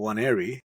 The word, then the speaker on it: Nwaneri: His name is Waneri. Correct. You got it right. Nwaneri. না, না, 180 এন্ডটা silent থাকে। Okay, Waneri with silent.